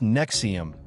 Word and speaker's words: NXIVM: He called it Nexium, pronounced Nexium.